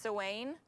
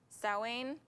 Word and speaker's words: Samhain: this word before and it's pronounced very differently than what it looks like i think it's pronounced sewing sawing it's s-a-m-h-a-i-n so it looks like samhain okay so wayne says